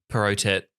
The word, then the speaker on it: Perrottet: Perrottet, yep. Perrottet? Mm-hmm. Okay, Dominic Perrottet.